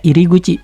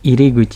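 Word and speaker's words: 入口: tadi ada deguchi pintu keluar, di sini ada iriguchi pintu masuk. Iriguchi. Oh, sorry. Iriguchi. Pintu masuk. Ini gampangnya kita bayangin kayak bikin tenda, ada bendera ke arah kiri melambainya. Tinggal tambah kanji mulut. Jadi iriguchi pintu masuk.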